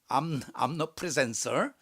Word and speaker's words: omnipresence: 그리고 여러분, 근데 세 가지, 요게 발음이 좀 달라요. 암니 할 때 omnipotence는 니로 발음되고요. omniscience 할 때도 니로 발음되는데, 편재할 때는 암너로 발음해야 돼요. omnipresence 이렇게 발음해야 돼요. 암너.